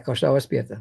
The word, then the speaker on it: Korsou Aspierta: Do I say it right? Yeah, Korsou Aspierta. Very good. Very good. With a little bit Dutch accent, but it's very good.